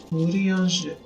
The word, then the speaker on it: Urianger: Urianger.